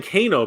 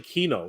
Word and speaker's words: Kino: You're saying Kano, but it's actually Kino. It's with an E. That's why it was throwing me off.